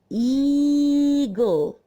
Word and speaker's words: eagle: When we see E and A together, this makes a long E sound. Eagle.